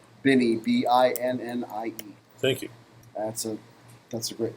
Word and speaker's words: Binnie: I can't remember how it's pronounced. Binnie, Binnie.